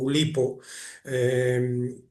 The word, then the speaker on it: Oulipo: que ahora en adelante ya digo que voy a pronunciar a la española, o Oulipo, que, bueno, me interesa mucho.